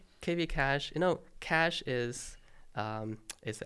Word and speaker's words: cache: TV cash, you know, cash is is acceleration technique, right? So it's it's a it's a very technical term, but a key cash has the same pronunciation as cash.